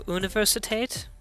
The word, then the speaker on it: Universität: But the U at the start is pronounced like ooh, so Universität.